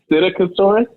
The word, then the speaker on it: Psittacosaurus: So the dinosaur is actually called Psittacosaurus, and Carly just had the hardest time pronouncing it.